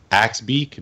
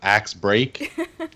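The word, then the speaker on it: Axebeak: video or our podcast was the mechanical axe beak not axe break I was like even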